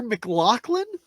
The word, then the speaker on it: McLaughlin: You mean Tanner McLaughlin Is it Lachlan? It's close enough. or McLennan. Laughlin? I think it's Laughlin. Is how you pronounce that.